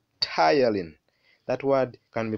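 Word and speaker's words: ptyalin: saliva is called saliva amylase sometimes it's called tylene that word can be pronounced as tylene so we have the tongue the tongue rolls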